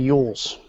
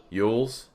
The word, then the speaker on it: Jules: way he pronounces named eul's eul's yeah damn it well you know what stupid American that's what I have to say yeah J is yacht in German so it's Jules yep